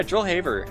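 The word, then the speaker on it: Joel Haver: it's hard for me to go back on mispronunciations just like regurgicate but uh yeah joel haber um has like a lot of incredibly well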